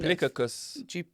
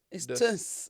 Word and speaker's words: duplicitous: Why are you saying it like that? Duplicabus. Duplicitous. Duplicitous. Let's see how they say it. Say it one more time. Wait. Duplicitous. Duplicitous. Duplicitous. That's not what he said. Duplicitous. Duplicitous. It's tus. It's tus.